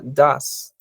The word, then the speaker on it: does: la tercera persona singular does se pronuncia das y aquí ven se